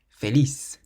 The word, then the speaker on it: feliz: The first word means happy, and it ends in a Z, so we stress the last syllable. Feliz. Feliz. So it's not feliz, but feliz.